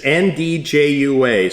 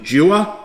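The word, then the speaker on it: 'nduja: Ndjua. So in Jua? Pretty close. Jua? Pretty close. I think it's pronounced Anduja.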